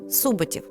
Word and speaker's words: Суботів: Наголос на першому складі: суботів.